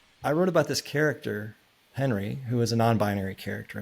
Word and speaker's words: Henry: of the characters in the story, do you pronounce her Henri or It's Henry?